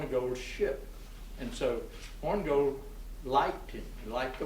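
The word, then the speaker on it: Hornigold: was a man named horngold and it's spelled horn eye gold so but i'm not going to say horny gold the corner horn gold was another early pirate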